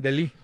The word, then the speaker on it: De Ligt: Dicen De Ligt. Sí, De Ligt, bueno. Exacto, porque algunos le dicen De Ligt, no, es De Ligt.